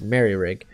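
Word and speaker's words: Moehrig: someone corrected me uh this whole time i i thought it was mo rig i've heard it pronounced mill rig it's apparently it's merry rig but he's probably the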